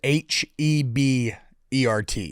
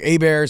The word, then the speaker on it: Hebert: I'm like, Hebert, spelled like Hebert, Hebert. It's also phonetically kind of runs together because like Hebert, and it just like it confuses the fuck out of people.